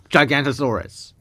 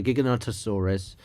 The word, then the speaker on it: Giganotosaurus: This is this is the correct way of pronouncing by the way. Giggonottosaurus. Um and it should be like um gigo notosaurus was considered the largest meat eatating dino until Spinosaurus was found.